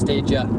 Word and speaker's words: Stadia: Okay, I just said there, it's pronounced Stadia. I mean, that's how I pronounce it. The Japanese pronunciation would be Suteja. So Suteja would be the Japanese way to say it.